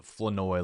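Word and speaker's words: Flournoy: Then Ryan Fenoi where I didn't know his name was a Fenoi. Like it literally rhymes with annoy and all of a sudden like the R is just silent now.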